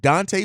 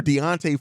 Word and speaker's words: Deontay: a huge surprise if Dante Foreman is listed or Deontay Foreman I've been saying it wrong for a while Deontay